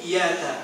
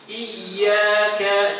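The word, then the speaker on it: إِيَّاكَ: iyaka coba iyaka ditambah Kalau tasdidnya dibuang nanti maknanya akan berubah ya Daus Syamsi cahaya mataari ya ya maka ini fatal nanti nabudu iaka Nah nanti maknanya jadi fatal ya maka hartakan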